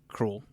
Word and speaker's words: Kruleboyz: Krule.